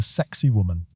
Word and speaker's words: Sacsayhuaman: Its name is Sacsayhuaman. Locals pronounce it closer to sexy woman, a joke that foreign visitors hear on every tour.